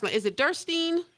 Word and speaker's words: Derstine: And how do you pronounce it? Is it Derstine? It's Derstine. It's German. Derstine.